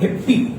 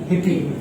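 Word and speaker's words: hippie: Anyway, but this is नॉट हिप्पी। What is this? This is हिप्पी। अब आपको concept समझ में आ गया? This is हिप्पी, this is wrong and this is right.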